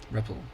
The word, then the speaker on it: REPL: Um, an interactive prompt is also called a ripple pronounced like rebel with a P. Reppel.